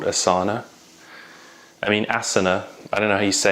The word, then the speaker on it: Asana: No, but they call the company Asana, even though in yoga you would say it's an asana. Yeah, stick out your asana. They've changed the pronunciation. No, I know. I'm just saying. Okay, so they call it Asana, which is kind of a posh version of asana. Asana sounds like sticking your ass out, and Asana is like,